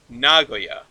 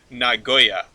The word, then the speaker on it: Nagoya: Tokyo and you put you put the emphasis on the first syllable right Nagoya yeah right I've always